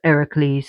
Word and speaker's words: Heracles: And there's also a story about how Heracles was Hercules, but pronounced Heracles in Greece, who went and fought and slain the Scylla, but Phorcys, her father, restored her back to life.